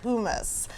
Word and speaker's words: hummus: And it's spelled like hummus, but it is pronounced hummus.